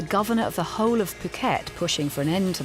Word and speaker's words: Phuket: I'm going to Phuket. Bye-bye. Good times. Sadly though, he missed the memo that it's pronounced Phuket.